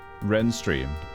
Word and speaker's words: Ravenstruther: And the Ravenstruther is pronounced Renstream.